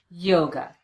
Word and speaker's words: yoga: or the uh sound same thing happens with the word yoga the second syllable is unstressed we replace the letter A with the unstressed vowel the uh sound and we get away from that syllable as quickly as we can yoga yoga